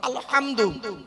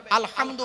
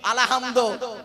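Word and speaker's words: الحمد: পড়ি আলহামদুলিল্লাহি রাব্বিল আলামিন আলহামদু অনুরোধ করে বলছি উচ্চারণটা ঠিক করুন আলহামদু গলার ভেতর থেকে উচ্চারণ করবেন আলহামদু মানে হচ্ছে সমস্ত প্রশংসা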